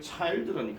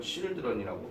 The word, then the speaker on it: children: 우리 어린 친구들이 보통 이걸 child라고 배워놨는데 얘를 childrun이 하는데요. 이거는 발음을 하는 사람들이 그렇게 바꿔놓은 거기 때문에 이걸 children이라고 반드시 기억을 해주셔야 됩니다.